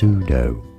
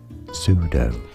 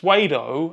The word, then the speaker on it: pseudo: the word is pronounced sudo stress on the first syllable silent P pseudo and you might say Jack why would you ever think that it was pronounced suedo and not pseudo and look honestly make